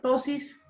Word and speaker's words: ptosis: Tosis. Ptosis palpebral. Ya, se escribe P-T-O-S-I-S, ptosis palpebral, el párpado caído.